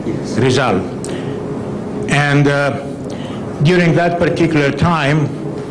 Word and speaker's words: Rizal: Do I pronounce it right? Yes. Rizal.